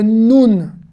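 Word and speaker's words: נון: Donc c'est le nun et pas le nun.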